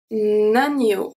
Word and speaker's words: agneau: Here, when it's followed by anything but OE, we are going to have the sound kind of like a ni, but more like a rolling E, ni. Let's see 3 examples you will understand. The first one, un agneau, un agneau. So here we have the link as well. Un agneau, new. Okay, un agneau. So this is the rolling E.